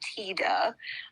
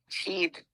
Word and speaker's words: Tiede: Okay, so his name is Bernie Tiede. I had to Google how to pronounce that because it's spelled Tiede. Oh, I definitely would have pronounced that wrong. Called him Tiede or something.